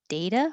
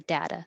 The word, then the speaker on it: data: The model was based on historical data or data. They're both correct.